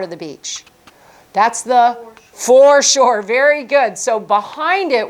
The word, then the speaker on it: foreshore: Foreshore? Foreshore. Sounds like for sure.